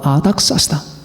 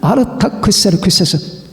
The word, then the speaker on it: 아르타크세르크세스: 바로 아닥사스다. 아르타크세르크세스. 원래 발음은 아르타크세르크세스. 크세르크세스의 아들이에요. 아르타크세르크세스. 이걸 줄여서 아닥사스다라고 하는 겁니다.